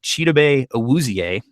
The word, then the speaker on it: Chidobe Awuzie: Chidobe Awuzie, I believe is how you pronounce his name.